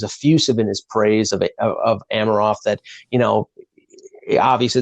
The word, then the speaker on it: Amirov: Well, I think Leaf fans who were critiquing the first-round pick of Rodion Amirov, or Amirov, I've been told that's the proper pronunciation, have to be pleasantly